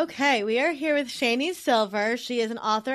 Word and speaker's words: Shani: we are here with shanie silver she is an author and podcaster originally from Fort Worth Texas and her name is pronounced like Rainey with a sh and I'm adding that